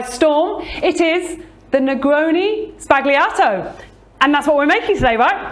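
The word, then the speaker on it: sbagliato: media World by storm it is the Negroni spagliato and that's what we're making today right absolutely it is and did I pronounce it right you've got that right yeah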